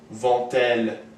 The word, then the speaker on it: vont-elles: plural ends with T, there will always be a T pronounced before il and elle. So for example, are they going to the sea? La mer becomes vont-elles à la mer?